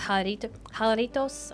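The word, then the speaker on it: jalapeños: Yeah, I'm pretty sure that's pronounced jalapenos. I think that the J is pronounced huh.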